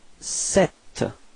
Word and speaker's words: sept: And then sept. Okay, so the P between and T is not pronounced, so you get this sept.